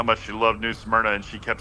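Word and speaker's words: Smyrna: properly like I thought I always thought it was Suna you're like no it's just smna and I'm like smna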